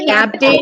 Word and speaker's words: captain: Mountain, captain, again. Okay, friends. Then Mountain, captain, again. Again. The simple idea, you pronounce the last A-I-N as a in.